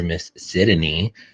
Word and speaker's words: Sydney: like to call her, Miss Sydney, 3 syllables, because that's the best way to say it.